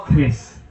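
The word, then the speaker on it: QRIS: Oh iya pakai curis. Bacanya curis apa kiris apa Kris? Oh Kris.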